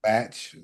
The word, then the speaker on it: Bach: Batch. The easy way to remember is his last name is Bachelor. Yeah. Oh, okay. Okay. So yeah, Batch, John Witherspoon, Charlie Murphy,